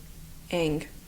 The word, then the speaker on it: Ng: how to say NG how do you pronounce NG pronounce SL name NG Ang okay it's by Celesta Ang so if you like